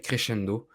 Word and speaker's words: Crescendo: C'est comme de la restauration rapide qui s'appelle Crescendo, comme ça se prononce, comme en italien, et en fait, c'est